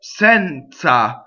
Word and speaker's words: Senza: phonetically right so next Senza so the Z is like T Z and in the e is open okay run called a closed